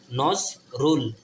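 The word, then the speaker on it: Nazrul: যেমন ধরুন হচ্ছে এন এ ন এন এ জেড নজ আর রু আর ইউ এল রুল নজ রুল এন এন এজেড নজ আর ইউ এল রুল নোজ রুল ইজ a poet poet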